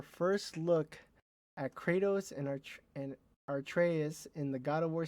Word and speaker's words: Atreus: look at Kratos and Atreus in the God of War series now in production for Prime Video. Their journey to the highest peak begins. There you go. It's actually Atreus, not Atreus.